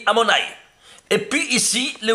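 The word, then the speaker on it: Adonai: Aleph Dalet Nun Yod, il s'écrit comme ça, mais il se lit Amonai.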